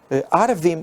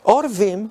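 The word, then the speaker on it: עורבים: Si leemos el texto completo y lo pronunciáramos arvim o árabes, no tendría sentido. Miremos el ojo que escarnece a su padre y menosprecia la enseñanza de la madre, los orvim o cuervos. ¿Por qué creemos que esta es la pronunciación correcta?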